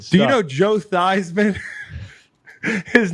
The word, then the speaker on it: Theismann: His name used to be Joe Theismann. Yes. This is what it's come to. The guy changed it. At one point, the award was prestigious enough to change your name to rhyme with the award.